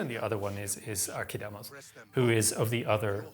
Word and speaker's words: Archidamos: So it's quite funny that they use the sort of modern Greek pronunciations of these words. Obviously, Pausanias and Archidamos, these are modern ways of pronouncing these names. We should actually be talking about Pausanias and Archidamos. It's a hard K sound.